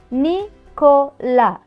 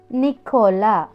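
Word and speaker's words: Nicolas: உச்சரி வாசிக்கிறோம்னு சொல்லி பார்ப்போம் என் இ சே ஓ கோ எல் ஆ எஸ் ல இந்த எஸ் வந்து உச்சரிக்க மாட்டோம். நிக்கோலா நிக்கோலா வே இ ஓ வியோ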